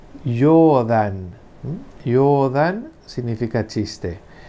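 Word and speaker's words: 冗談: Esa palabra es y se lee yodan.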